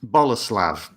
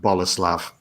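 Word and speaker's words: Bolesław: His middle name is Boleslav. Oh. Which I was really disappointed when I found out because it's spelt Bolslaw. I thought, Bolslaw, that's a brilliant middle name. It's pronounced Boleslav.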